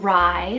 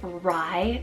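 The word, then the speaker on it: Rai: we have the name Ry spell r a i Ry this is such a cool just one syllable name it actually means wise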